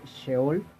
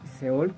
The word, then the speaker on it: Sheol: Ellos le llaman el Sheol o el Seol, como sería más fácil pronunciarlo.